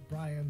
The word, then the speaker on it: Brian: lion-like in any way, simply because my name rhymes with lion. It was literally like we were at a braai one day and somebody started shouting out Brian the Lion, and you